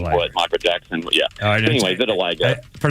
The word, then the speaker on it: vitiligo: And uh and then from like with the very first segment, it's pronounced vitiligo. Vitilago.